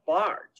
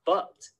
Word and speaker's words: Bart: Well, you should pronounce it a little longer and say like Bart instead of Butt.